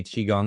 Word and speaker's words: Qigong: And Qigong, remember, guys, it's spelled Qigong. That is how you say Qigong.